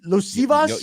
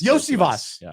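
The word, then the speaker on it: Iosivas: I can't even say his name Andre Los losas yosias yosias thank you that's pretty good you got it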